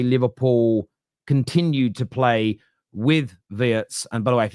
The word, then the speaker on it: Wirtz: This happens a lot with international names, but they're saying it isn't Wirtz, it's Wirtz. So I'm going to bow